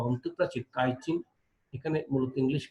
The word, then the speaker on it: chitin: থেকে উদ্ভূত এই অংশটির ভেতরের প্রাচীর বা অন্তঃপ্রাচীর কাইটিন, এখানে মূলত ইংলিশ কাইটিন বানানটা ছিল এমন হয়ে গেছে আর কি, CHITIN, কাইটিন নির্মিত শক্ত আবরণে আবৃত।